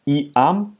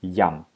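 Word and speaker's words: iam: Gut, der Buchstabe I wird vor den Vokalen wie J ausgesprochen, ja? Zum Beispiel bei dem Wort Yam, ja? Das heißt, dieser Vokal I vor einem anderen Vokal wird wie J ausgesprochen. Also nicht I-am, sondern Yam, ja?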